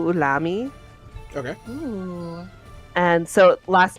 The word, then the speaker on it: Ulami: just sounds good so uh it'd be show ulami okay and so last name but last name gets pronounced first um and then ulami is u-l-a-m-i